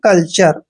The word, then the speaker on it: culture: इसलिए इसको पढ़ेंगे हम कल्चर। कल्चर क्या होता है, कल्चर होता है संस्कृति होता है अपनी, तो कल्चर। ध्यान रखिए टी के बाद URE आए तो टी का उच्चारण चे करना है।